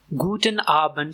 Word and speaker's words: Guten Abend: और इसकी प्रोनाउंसिएशन है गुटन डार्क गूटन डार्क गटन डार्क गूटन आबंट शाम में इस्तेमाल होता है मोस्टली डिनर के बाद।